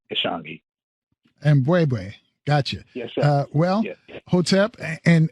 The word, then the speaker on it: Ishangi: correctly good morning brother and the correct pronunciation ishangi gotcha uh well hotep